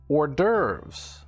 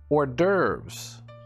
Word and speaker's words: hors d'oeuvres: Number 18 is pronounced hors d'oeuvres. Hors d'oeuvres.